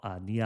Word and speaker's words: Nier: So Black Box is also an opening for an anime called Nia Automata. So it's spelled N-I-E with a capital R.